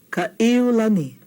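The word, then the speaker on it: Kaʻiulani: Kaiulani. Okina between the a and the e. Kaiulani.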